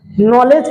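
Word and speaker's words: knowledge: नॉलेज का meaning शुरू होता है के से, लेकिन के क्या हो जाता है? साइलेंट हो जाता है।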